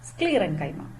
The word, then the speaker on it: sclerenchyma: okay so repeat after me parenchyma colon kaima sclerenchyma okay so first learn the names properly pronounce it several times to make it familiar